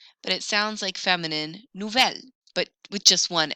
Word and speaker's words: nouvel: If your mouth is open and the next word starts with a vowel, I'm going to need to fix that with belle, nouvelle, vieille. instead. That pronunciation error doesn't happen